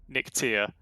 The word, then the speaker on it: Nyctea: It is supposed to be Nyctea. Nyctea, okay. Nyctea, so, yeah. Nyctea, a bit of an emphasis on the E there.